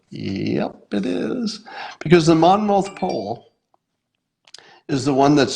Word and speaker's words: Monmouth: I don't want to say Monmouth even one more time because I can't pronounce it. Monmouth? The Monmouth poll. Just say it like you have a lot of cotton in your mouth.